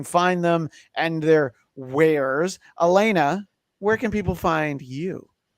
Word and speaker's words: Alana: And Elena just Jordan for our audio audience, I want to point out it's spelled Alana, A-L-A-N-A, but it is pronounced Elena.